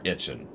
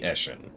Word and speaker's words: Eshin: The Blessed Dread have spread all frickin' over the place, and all of these are Itchin, or however you say his name, this guy. Eshin, excuse me, Eshin.